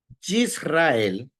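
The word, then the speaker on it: ישראל: sin hay un cheva Qué dice la regla que no se pronuncie ese cheeva porque antes del cheeva hay una voc corta por eso pronunciamos yisrael y no yisrael yisrael como el ejemplo ahí como dice ahí en la oración en el escrito que está ahí por qué no decimos yisrael porque el cheeva no se pronuncia Por qué no se pronuncia ese chev porque que va después de una vocal corta por eso necesitan tener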